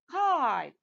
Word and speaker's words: kite: one is kit okay when i add silent e at the end the vowel letter will take the long sound that's right okay so the word becomes kite kit and kite okay